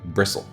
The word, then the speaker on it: bristle: not to bris Bristol bristle bristle bristle you don't pronounce the T then why is it there yeah I don't know